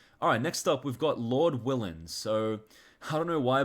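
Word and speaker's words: Lord Willin': So, I don't know why, but for the longest time, I pronounced this album Lord Wylan. I clearly did not see that there were two L's in the title, but that's just my bad.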